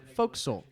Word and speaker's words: fo'c'sle: the word fo'c'sle incorrectly that's the word that looks like forecastle and it's pronounced fo'c'sle hey now see I